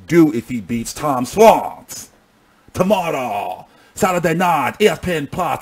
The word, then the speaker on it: Schwartz: It's Tom Schwartz. Schwartz. You got to spit a little bit on the side of your mouth.